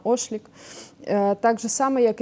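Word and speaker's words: Ochlik: Фотограф Рémy, як правильно, Ошлік. Ну, він француз, тобто я так підозрюю, що читається правильно Ошлік.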